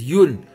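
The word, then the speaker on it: yuan: it's yun y u a you can say yen if you want that pronounced correct answer is yoon y u a n anisha also got it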